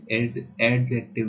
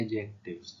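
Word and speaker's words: adjective: noun pronoun verb एडजेक्टिव देखिए इसे एडजेक्टिव नहीं बोलना है ए और डी जब आते हैं तो डी ए डी और जे जब साथ में आते हैं तो डी साइलेंट ता है तो हम इसे बोलेंगे एडजेक्टिव एडजेक्टिव फिर प्रीपोजिशन प्रीपोजिशन इंटरक्लाउड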